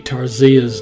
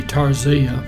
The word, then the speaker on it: Tarsia: the pronunciation of Deputy Tarsia's name, every news account I listen to trying to figure out how it should be pronounced, they all pronounced it different. So I'm going to go with Tarsia.